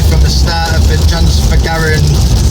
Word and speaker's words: Transfăgărășan: So yeah, we're 170 kilometres away from the start of the Transfagarasan road. Transfăgărășan. Transfagarasan, as I'm being told.